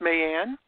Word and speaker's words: May Ann: now for you it's your first name is pronounced man yeah me and me and na ey a